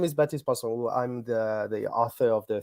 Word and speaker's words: Baptiste Pinson Wu: The correct pronunciation for everyone who wants to know is Baptiste Pinson Wu.